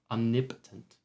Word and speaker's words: omnipotent: Speaking of pronunciation, I learned it's omnipotent. I've always said omnipotent because that is what makes fucking sense and English doesn't. But hey, omnipotent.